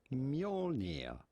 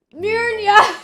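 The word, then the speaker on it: Mjölnir: Simply Mjolnir. Mjolnir! Come on, man! That's pretty close. That's pretty close. That's pretty close! Don't Kate We are me. looking at how to pronounce nothing less than the hammer Mjolnir?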